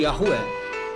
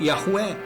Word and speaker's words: Yahweh: É pronunciado tradicionalmente como Yahué, embora o hebraico antigo não indicasse vogais.